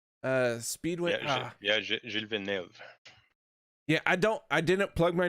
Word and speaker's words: Gilles Villeneuve: Listen, I butchered it out of good fun, Paul. Oh, all good, all good. It's Gilles Villeneuve Speedway. Gilles Villeneuve.